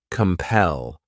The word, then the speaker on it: compel: The next verb is compel. This word has 2 syllables, and the stress is on that second syllable. Compel.